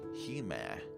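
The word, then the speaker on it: hime: a soflex for princess it is pronounced he man like how the e in caffeine is pronounced at the cat part in cafe is pronounced ca translator notes brought to you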